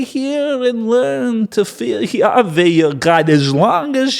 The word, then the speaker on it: Yahweh: bore the ark of Yave's covenant to all the elders of Israel. Now I'm pronouncing Yahweh the way Moses does.